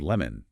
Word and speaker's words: lemon: Let us examine the word lemon, L-E-M-O-N, lemon. We strike the first part with our vocal hammer, N-E. Because the E takes the energy, the O at the end of the word is abandoned. It loses its clear O shape. It collapses into a schwa. We say lemon, lemon. We absolutely do not say lemon, lemon.